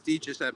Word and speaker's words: DiGiuseppe: It's DiGiuseppe, yeah. He was a Ranger, right, Aaron? Maybe for a little bit. Is it Philip DiGiuseppe?